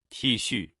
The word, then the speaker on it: T恤: ไง เสื้อ ยืด นะ คะ ก็ คือ ทชื่อ ใช่ แล้ว ค่ะ ทชื่อ ทชื่อ